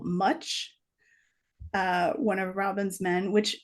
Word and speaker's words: Much: Uh, what I did was spell it out in the way it would be pronounced in Middle English, which is Mooch, which I spelled Mooch, which is a great gangster name, It is, right?